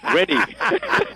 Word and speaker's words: Reddy: And remember, my name is easy to remember. If you forget my name, you need to be in an Alzheimer's association. Reddy. You can't get any that's right. And it's spelled very easy, too. R-E-D-D-Y, just like it sounds.